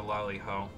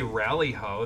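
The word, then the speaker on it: Lali-ho: You kind of did because you don't know how to lolly-ho. It's 3 syllables, dude. I guess I need to rally him. I mean, I guess you could say rally-ho. That's what they used to say in, like, the first copies of Final Fantasy I that were imported here.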